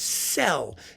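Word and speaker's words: Szell: and says, oh, it's Cell. It's pronounced Cell in Hungarian.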